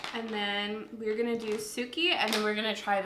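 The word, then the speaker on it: Tsuki: So we have Strawberry and Suki. It's T-S-U-K-I, so I'm assuming the T is silent. So Suki.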